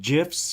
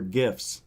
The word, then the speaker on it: GIF: It's a gift without the T. Isn't that how it's said? Right? A GIF. There's no T. That's how somebody told me how you remember to say GIF.